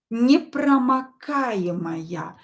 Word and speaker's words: непромокаемая: For example, the word непромокаемая, waterproof. Давайте напишем. Непромокаемая. So here A is stressed, not O. So I will pronounce this O as A.